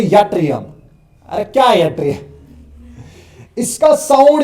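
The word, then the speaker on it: yttrium: सो इट्स अ यट्रियम इट्स यूट्रियम।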